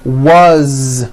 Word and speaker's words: was: z ending his mom is mary as you pronounce it with a voiced z as the phone rang was which is a very common word it was